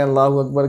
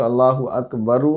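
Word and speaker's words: الله أكبر: और अगर बात करें अल्लाहु अकबर के रा की तो अल्लाहु अकबरू, ना रा पे पेश पढ़ेंगे, ना अकबरा, ना रा पे ज़बर पढ़ेंगे, साइलेंट होगा अल्लाहु अकबर।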